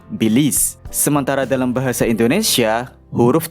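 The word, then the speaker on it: Belize: Mungkin perlu diperhatikan di mana dalam bahasa Inggris huruf terakhirnya adalah E yang tidak dibaca juga karena pelafalannya adalah bilis.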